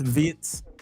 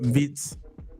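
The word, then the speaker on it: Wirtz: It's not Vert, you know. It's Vitz. That's how you pronounce it. Vitz.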